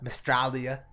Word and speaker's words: Mystralia: Which Mandroid, who was our guest last week, he taught me to pronounce it like Australia, Mystralia.